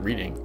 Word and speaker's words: Reading: the Reading Terminal Market reading spelled reading pronounced reading I mean there could honestly